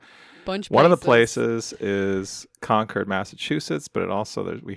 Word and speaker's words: Concord: Conquered. That's spelled C O N C O D.